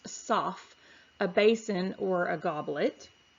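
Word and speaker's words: סַף: We see it's the Hebrew word kaf, or pronounced saf, a basin or a goblet.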